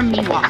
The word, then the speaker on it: Miwok: Southern Sierra Miwok. Miwok okay.